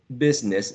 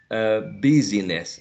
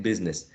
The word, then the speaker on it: business: Business, never busyness, right? Business.